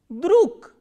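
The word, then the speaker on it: друг: G is again a voiced consonant. So, this voiced consonant will be pronounced as k, druk.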